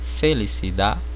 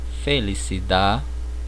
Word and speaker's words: felicidad: Então percebam aqui, eu trouxe 3 palavras: verdade, felicidade, vecindade, certo? Então vocês percebam que eu não pronuncio a letra D no final da palavra. Ela praticamente é muda, o som é mudo, tá bom?